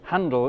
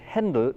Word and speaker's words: Händel: Okay, so our good friend Mr. George Friedrich Handel in English, or Georg Friedrich Händel in German, all the way back in 1747.